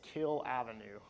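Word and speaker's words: Kiehl Avenue: And so it's pronounced as Kill Avenue. So. So there's Kill Avenue.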